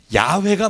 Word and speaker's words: 야훼: 그래서 여호와라고 잘못 붙인 발음을 나중에 고증을 통해서 고고학을 하다 보니까 아하 원래의 모음은 야훼가 맞다.